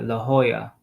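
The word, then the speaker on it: La Jolla: that's what I heard J is pronounced with a h um the Hoya Hoya yeah la Hoya you're smart Okay La Hoya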